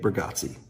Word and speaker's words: Bargatze: Nick Burggatsi.